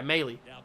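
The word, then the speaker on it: Maile: thank you austin meadows luke mele is that how you pronounce it yeah melee that's how you pronounce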